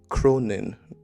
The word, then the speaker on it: Cronin: ferryman by Justin Cronin Cronin I think I pronounced it with a g at the end and there is no G um there should be